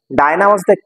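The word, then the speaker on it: Dinah: হয় ডায়না খুব আমাকে মিস করবে আজ রাতে ডায়নাট অনেকে ডিনা বলে উচ্চারণটা উচ্চারণটা ডায়নাডটা বিড়ালের নাম ও পড়তে পড়তে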